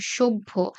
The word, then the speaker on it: সভ্য: তো এই যে ভ এর সাথে যখন ফলা যুক্ত হবে, তখন সেটার উচ্চারণ কিরকম হয় দেখো, সভ্য। আগে ব এর উচ্চারণ আসে, তারপরে ভ এর উচ্চারণ।